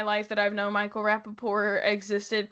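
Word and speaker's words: Rapaport: I have for all of my life that I've known Michael Rapaore existed called him Michael Rapaore with a silent T.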